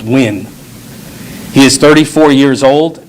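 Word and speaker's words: Nguyen: and i'll spell that it's n g u y e n pronounced win he is 34 years old and has been with lvmpd since 2018.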